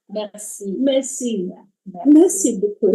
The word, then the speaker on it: merci: It's not mercy. Merci. Merci. Merci. Merci beaucoup. It's almost like you're Merci swallowing.